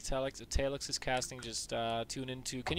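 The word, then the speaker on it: Talex: By the way, I would also like to say that I love casting with Europeans because you guys pronounce Talix correctly. Because in North America, they're like, it's Talix, right?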